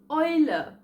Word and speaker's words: Eule: This diphthong is called OI. For example, Euro or Eule.